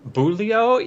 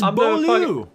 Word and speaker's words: Beaulieu: Boulio? Yeah, but No, that's that's Beaulieu. That's Beaulieu.